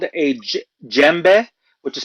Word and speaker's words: djembe: One is called a djembe, which is spelled Djembe.